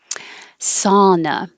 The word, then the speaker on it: sauna: it's a good contrast sauna we just simplify this with an ah and it sounds like ah like hot so if you think hot sauna that will be the right vowel ah sauna whenever there's